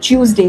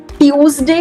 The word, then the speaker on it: Tuesday: Everybody, when we pronounce this word ter, it's little bit of ch sound that takes place. It's like Tuesday. The way we say chewing the food. So it's not Tuesday. It's not that hard sound.